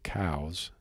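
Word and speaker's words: Coues: of their cows deer, I'm going to say it correctly, cows, even though most people call it coos deer, and a lot of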